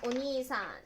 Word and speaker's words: お兄さん: « お兄さん » et le lisez comme « o nī san. » C'est une façon particulière de lire.